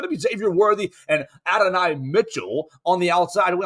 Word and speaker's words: Adonai: It's Adonis Mitchell, right? Is that how they want him to say his name now? Adonai Mitchell.